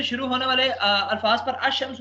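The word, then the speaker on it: الشمس: हो गया ठीक है अल अल शम्स हम नहीं कहेंगे बल्कि अमस कहेंगे शीन दो दफा हो जाएगा ठीक है तो अब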